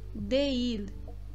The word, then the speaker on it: değil: Então, aqui essa palavra, a pronúncia dessa palavra é değil, değil. Vocês podem perceber que eu estendo aquele E, eu estendo o I ali, e ele não é totalmente sem som, ele não é uma